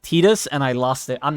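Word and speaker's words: Tidus: to call FFX I used to call him Titus until I played this Cydia and I found out that his name is pronounced Titus and I lost it I'm never calling him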